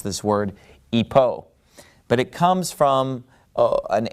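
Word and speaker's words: ὑπό: rough breathing mark so in the ancient Greek pronunciation you know it started with an H sound we're of course using modern Greek pronunciation so we would pronounce this word Ipoh but it comes from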